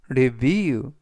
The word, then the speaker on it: review: 달걀을 섞었다라는 뜻이 되겠습니다 이번 단어는 reev reev라고 발음하시면 되겠고요 이때 강세는 뒷부분에 있는 알파벳 2의 강세가 있습니다 그래라고 발음하시면 좋겠고요 품사는